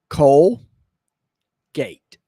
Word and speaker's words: Colgate: it with me okay it's two syllables coal gate coal gate coal k k colgate